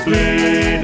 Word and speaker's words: Blidworth: For in Oldham the locals say Uffam, to the natives of Blidworth it's Blid.